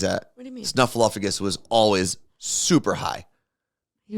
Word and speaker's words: Snuffleupagus: Oh yeah, I was saying fluff, like Snuffleupagus. I was doing fluff twice.